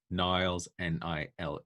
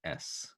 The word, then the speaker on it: Niles: Yep, Niles, Niles. It's like Klein, and Niles like the River Nile with an S.